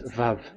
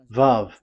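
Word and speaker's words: וָו: So the word, the shape Vav is really pronounced V, like Vogue.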